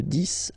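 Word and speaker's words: dix: Okay, de 10 à 20. Okay, so let's start now. 10. Okay, so remember, final X here is pronounced like S, 10, 10, okay, then 11,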